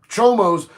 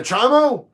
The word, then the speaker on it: chomo: When I first got to prison and people started talking about chomos, I was like, "You mean a chimo?" Because child mo, and they're like, "No, man, we pronounce it chomo."